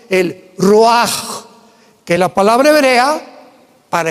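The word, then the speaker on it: רוח: El roaj, que la palabra hebrea para espíritu.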